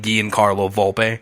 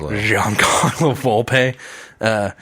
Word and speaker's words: Giancarlo Volpe: just I I listen I read the word the name Guillen Carlo Volpe which I probably just butchered that I am sorry it's Giancarlo Volpe anyways director of Nickelodeon